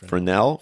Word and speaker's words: Fresnel: Fel with an S in the middle of the word, but nobody says it.